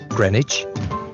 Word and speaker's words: Greenwich: start with our great river is the thames greenwich leicester square borough one of the best ways